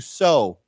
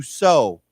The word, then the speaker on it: sow: So this is pronounced the same, but it's spelled different. It has a different spelled differently. Okay, so let's read this. Let's say it together: to sow. To sow.